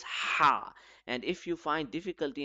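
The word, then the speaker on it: ح: Ha, ha, ha. Yeah, very easy. Ha is read from the middle throat. It should be read with force. It should be as sharp as a sword.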